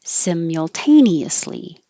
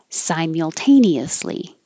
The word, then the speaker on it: simultaneously: The first SIM can be sim or sim. So simultaneously or simultaneously. Both are fine.